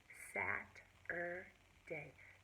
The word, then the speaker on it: Saturday: Tomorrow will be Sat-er-day. Sat-er-day. Sat-er-day. 3 syllables.